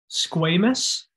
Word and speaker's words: squamous: one layer of cells squamous it's a long a squamous is referring to